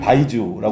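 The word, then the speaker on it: 白酒: 이제 고량주를 말하는 거고 중국 사람들은 이제 그 바이주라고 네.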